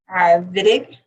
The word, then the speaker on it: Wittig: And we start off with the Wittig olefination. So even though it's a W, it's pronounced with a V sound. So it's a Wittig olefination reaction, which utilizes an aldehyde or ketone and what's called a phosphonamide.